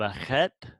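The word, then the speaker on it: ח: Do note that the chet is pronounced like so if we have a word like brother, this is the word for brother. We have at the end of this word we have a chet. It would be pronounced ach, ach, ach.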